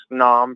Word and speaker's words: naan: like obviously i needed rice naan bread or none bread as it's actually pronounced and bread i got